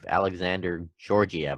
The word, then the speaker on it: Alexander Georgiev: And on goaltending, the Rangers, they got some good goaltending with Alexander Georgiev. I think that's how you pronounce it. Versus Carolina. That's how you say it.